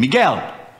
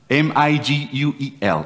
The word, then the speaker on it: Miguel: he called Miguel this is my name Miguel m-i-g-u-e-l Miguel this is when I go for asking